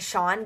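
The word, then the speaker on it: Shaughn: It's Sean, but it's spelled different and nobody really knows how to spell it. So she wrote Hannah and him because his name is spelled S-H-A-U-G-H-N, which is not the normal way of spelling Sean.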